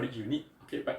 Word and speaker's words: Yuneec: why they call it unique okay but it's spelled as Y u N E C okay pronounce as unique okay this is different